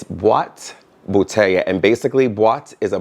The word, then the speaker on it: boîte bouteille: It's Boîte bouteille, and basically boîte is a box and bouteille is bottles, and I got this to hold cologne.